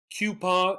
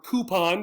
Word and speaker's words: coupon: here here's the word the issue for pronunciation is the o and the u this one here is coupon or coupon sorry i did the wrong